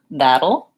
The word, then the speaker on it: that'll: And then that'll, same thing. That will, we say that'll.